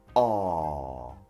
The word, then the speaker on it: awe: You can't say, oh no, it's too long, or oh no, aw is too difficult to pronounce. You just open your mouth and say, aw.